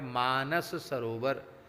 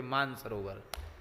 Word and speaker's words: मानस सरोवर: गया जिसका नाम है मानस सरोवर अब आजकल लोग मानस सरोवर में सा का तो लोग उच्चारण ही नहीं करते सीधे कह देते मानसरोवर भैया मानसरोवर नहीं है मानसरोवर तो हमारे ब्रिज